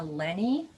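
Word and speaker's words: Lenney: author is i think her name is pronounced dina lenny and the last name is l-e-n-n-e-y and this this book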